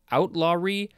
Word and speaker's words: outlawry: Outlawry? How do you say that word? Outlawry. It's like outlaw with an R-Y.